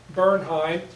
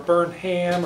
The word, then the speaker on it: Bernheim: It was created by Isaac and Amanda Bernheim. Depends on how you pronounce their name. Bernheim or Bernham or Burnham. A lot of the Germans changed the pronunciation of their name during World War I, and that's what Isaac Burnham did.